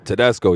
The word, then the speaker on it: Tedesco: It's Tedesco, right? Tedesco, yep, that's right. Dude, nailed that pronunciation.